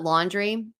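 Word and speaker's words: LNDR: swimsuits and I found this brand called laundry and it's spelled l n d r uh laundry they're Canadian and they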